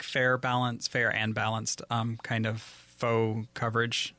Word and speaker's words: faux: and balanced kind of faux coverage. Faux is spelled F-A-U-X. That sounds like Fox.